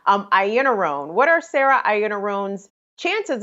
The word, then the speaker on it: Iannarone: And I'm so sorry to keep blanking on her name because I can see it in my head one way, but it's pronounced like a whole nother different way. Iannarone.